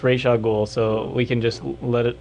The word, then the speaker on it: Ra's al Ghul: Well, at least we'll go on record saying the guy who created him says it's Ra's al Ghul, so we can just let it lie now.